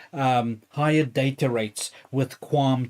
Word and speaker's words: QAM: So the one one of those of course is um higher data rates with quam 2 that QAM we pronounce thatqam 10 uh 1024.